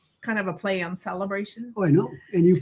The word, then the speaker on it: Sale-a-bration: $60 celebration like kind of a play on celebration oh I know and you pronounce it celebration but it's celebration celebration because